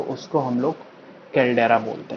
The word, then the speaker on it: कैल्डेरा: तो ये जो बन जाता है इसको हम लोग बोलते हैं कैल्डेरा, कैल्डेरा।